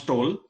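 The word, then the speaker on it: Tolle: art to you know some people they pronounce tole or tol I you know I I pronounce toll as per my understanding so here whole book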